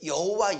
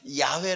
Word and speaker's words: 야훼: 발음상 문제의 엄격한 의미에서 더 정확한 발음을 하면 야외 라는 발음이 더 정확한 발음 근데 우리 성경에는 다 여호와 라고 이렇게 번역을 했는데 별로 중요한 차 요와